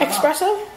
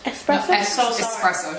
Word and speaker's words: espresso: screen what you're saying i know but like expressive so i really wanted to do a lot of coffee here espresso you're saying it wrong i also got a